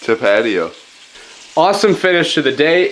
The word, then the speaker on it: Tapatio: hot sauce but Michael how was Tapatio pronounced to patio awesome finish to the